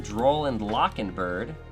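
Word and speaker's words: Droll & Lock Bird: does a lot of searching we have to droll and lock and bird that is the correct pronunciation fight me troll and locking bird droll and lock and bird um really good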